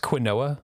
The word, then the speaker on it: quinoa: Harvest what's available and plant what's left it's pronounced quinoa thank you very much if you could use